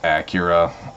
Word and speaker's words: Akira: a day so there you go yeah it's pronounced Acura um I say Akira because that's just how I've always said that